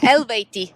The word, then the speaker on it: Eluveitie: I hope I'm pronouncing it correctly. Elvati.